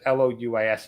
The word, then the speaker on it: Louis: So yeah, sometimes Louis is pronounced Louis, but it could be Lewis. Usually, when I understand it to be Lewis, it's Lewis.